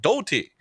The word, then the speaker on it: Doti: So, from Team Zashin, Doti, we'd like to apologize for pronouncing the name wrong. It's Doti. It's not eat what like what we were pronouncing just now earlier for last match here.